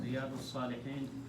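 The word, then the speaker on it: رياض الصالحين: Riyadus Salihin.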